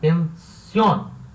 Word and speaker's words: pensión: Então, pensión é uma palavra oxítona, ou seja, a sílaba tônica é a última, son, e termina em N. Então, leva acento. Então, pensión.